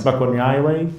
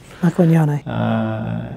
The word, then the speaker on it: Makwanyane: It's hard to pronounce, Makwanyawe? Yep, Makwanyane.